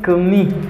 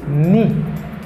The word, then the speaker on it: knee: Now, the first word is knee. This is my knee. M'bagaye kni. M'bagaye kni. Because in this word, the letter K is silent.